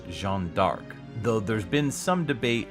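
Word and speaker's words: Jeanne d'Arc: comes from historical figure Joan of arc's French pronunciation which is Jean dark though there's been some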